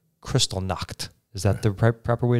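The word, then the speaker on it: Kristallnacht: those who opposed them now Seattle's had its Crystal knocked is that the proper way to say it yeah Crystal not yeah and the pictures of what occurred during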